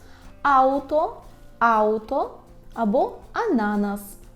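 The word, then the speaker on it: ananas: аutobus аuto Auto або ананас ананас так наголос повинен бути саме такий а на нас бо наголос у польській мові падає на перед останній склад наступна наша буква така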